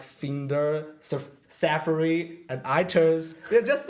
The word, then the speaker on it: Finder: the second one it's finder yeah that should be Finder right not finder finder yeah because it's like find you want to find your files and just Apple just